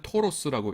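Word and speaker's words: Taurus: 타우루스라고 하는 모델이 있는데 영어로 읽을 때는 토로스라고 읽습니다.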